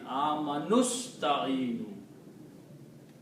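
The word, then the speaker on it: آمنوا استعينوا: But when you read them together, you do not pronounce this alif, but combine the noon with the sin. Amanusta'inu. Okay? So the pronunciation becomes Amanusta'inu.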